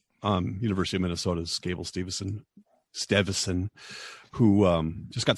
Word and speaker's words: Steveson: oh oh Gable um Stevenson yeah but it says Evanston yeah it's weird um yeah Steverson St like e-v-e son or something like that yeah it looks like Stevenson but it's not pronounced yeah right something like